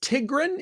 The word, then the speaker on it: Tigron: I I don't know if remind me, it's Tigron. Is that how you say it? Yes. Yeah. Yeah.